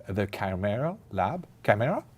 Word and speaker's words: Chimera: This is also inspired by a Greek word, where I think in Greek it's K, so it's Ki, chimera, and I think when